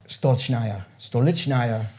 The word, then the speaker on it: Stolichnaya: And she also taught me how to say stolichnaya, right? Accent on the second syllable, right?